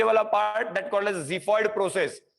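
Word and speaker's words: xiphoid: देखो प्रोनाउंस क्या है उसका, ज़िफॉइड है, जी, ओके, ज़िफॉइड प्रोसेस।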